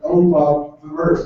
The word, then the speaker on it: OBAverse: Higher ed OBA Verse, like universe.